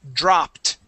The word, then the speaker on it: dropped: let's practice the word dropped that Ed makes a t sound dropped dropped dropped good okay